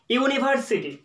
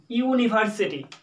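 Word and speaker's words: university: ইউনিভার্সিটির প্রথম অক্ষর কিন্তু বাউল, কিন্তু উচ্চারণ শুরু হচ্ছে কনসোনেন্ট লেটার দিয়ে, ইউনিভার্সিটি। দেখুন ওয়াই ও ইউ, ইউনিভার্সিটি, প্রথম অক্ষরটা কিন্তু কনসোনেন্ট, যার জন্য এখানে এ ব্যবহার করব।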